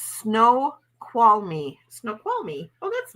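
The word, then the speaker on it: Snoqualmie: my god oh okay so it's pronounced snow qual me snow qual me oh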